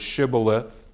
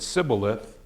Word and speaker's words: shibboleth: What separated the groups was their ability to either pronounce the word shibboleth, or if they couldn't and they said sibboleth, 42,000 of them were killed, right?